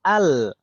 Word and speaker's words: ال: Itu hamzah wasalnya selalu dibaca fathah, nggak mungkin nggak fathah, nggak ada yang membacanya il atau ul, ya kan Om? Pasti al.